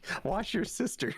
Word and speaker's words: Worcestershire: Somebody says it's pronounced wash your sister sauce.